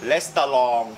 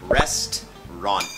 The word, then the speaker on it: restaurant: ห้ ค รั บ We are at a restaurant Restaurant Restaurant ภ า ษ า อั ง ก ฤ ษ ต้ อ ง อ อ ก เ สี ย ง ว่ า Restaurant ห รื อ จ ะ เ ป็ น